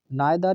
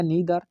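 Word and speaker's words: neither: Imperative sentence है तो नाइदर नॉर के बीच में आपको लिखना होगा नाइदर या नीदर, जो भी इसका प्रोनाउंसिएशन आप लेते हो।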